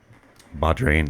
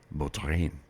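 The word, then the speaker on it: bodhrán: dropped my B stick Badin that's Irish Dr I think that's how you pronounce it probably probably not the correct pronunciation b o d h r a i n bin uh Bodin probably a completely different pronunciation it being Irish K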